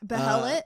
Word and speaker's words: behelit: He finds the behelit is. I found out how the right way to say it. Oh, it's behelit? Yeah.